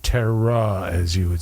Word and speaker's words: terroir: joy gratitude and joy grows there the right Terror as you would say yeah the right terroir exactly Terror whatever and I knew how it's spelled but I just don't know how to